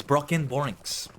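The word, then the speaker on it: Brockenborings: my bad good day broken borings the pronunciation is not like broken right because it has the C in it it's broken borings oh and actually don't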